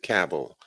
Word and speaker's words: Cabell: I think he called I think he pronounces it cable but capital okay yeah